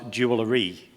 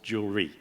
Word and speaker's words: jewelry: 1600 and something um the word was jewelry it was three syllables it arrived in America and suddenly became two syllables jewelry that was the first